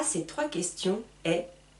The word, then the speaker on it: est: Attention, très important, pour prononcer les choses, ici, c'est écrit E-S-T, j'entends est. Juste est.